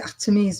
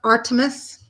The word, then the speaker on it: Artemis: So Artemis. I love Artemis. All right, selfhood. So let's see what Artemis. In French, I say Artemis.